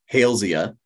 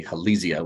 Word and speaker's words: Halesia: this so if you're if you're using a pronunciation after someone's name that it's not unusual to pronounce their name hence halesia but I tend to say halizia which is a little more standard Latin pronunciation generally in any event